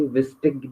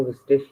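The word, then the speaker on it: wichtig: जैसे कहीं पे विस्टिश भी बोला जाता है, लेकिन कोई कोई विस्टिक भी बोलता है, विस्टिक, बोथ आर करेक्ट। लेकिन जब भी हम सीखते हैं तो हम स्टार्टिंग में विस्टिश ही सीखते हैं, आई जी का प्रोनाउंसिएशन लास्ट में इश।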